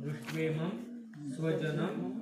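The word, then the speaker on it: दृष्ट्वेमं स्वजनं: उवाचक दृष्टवेम स्वजनम कृष्ण दोन्ही अनुस्वाराचा म असं उच्चारण होतं दृष्टवेम स्वजनम कृष्णयुत्सुमयुत्सुम समुपस्थित सिदंती मम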